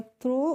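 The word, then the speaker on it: throw: तो यह हो गया थ्रो और जी एच का हो जाएगा थ्रो हो जाएगा और यहां पर जो जी एच है इसका हम प्रोनाउंस एशन नहीं करते हैं ठीक है तो इसको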